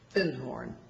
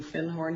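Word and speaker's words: Findhorn: called The Magic of food horn and he corrected my pronunciation he said you mean Finn horn he said our fin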